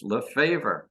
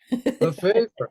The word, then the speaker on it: Lefavour: You pronounce it like you do English, Lefavour. Lefavour.